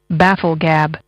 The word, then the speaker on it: bafflegab: FF l e g a b baffle gab baffle gab baffle gab your word of the day is pronounced baffle gab spelled again B A FF